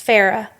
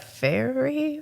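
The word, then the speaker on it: Feyre: Like, what were you feeling when you're thinking about like feminism and Farah's character is Farah.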